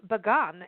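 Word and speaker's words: Bagan: be seeing a Debbie's next story is about begun and and I don't know if I'm pronouncing that correctly and that's up in Myanmar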